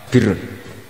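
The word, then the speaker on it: بر: Ya kalau di isim fa'ilnya umumnya guru-guru kita baca barin, tapi untuk masdarnya, untuk kebaikan bacanya apa? Birun. Nanti kamu protes, oh barun itu daratan Gus, kalau birun itu kebaikan.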